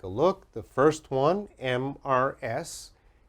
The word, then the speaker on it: Mrs: The first one, MRS. MRS is pronounced Mrs., Mrs., and Mrs.